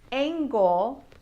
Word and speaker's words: angle: For example there's angle and angel. Can you hear the difference in the G sound? Angle has a hard G an angel has a soft G.